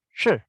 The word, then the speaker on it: 是: Namun kalau dia sendirian, shi, ya, pengucapannya lidahnya ditekuk dulu, shi.